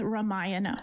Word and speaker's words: Ramayana: I'm Nikki Novak and welcome to the Fandango space at Cinema Con and we are talking all things Ramayana. Welcome. So excited She pronounced it well.